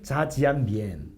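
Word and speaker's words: 炸酱面: 자, 짜장면은 중국 발음으로 하면 자지안미엔.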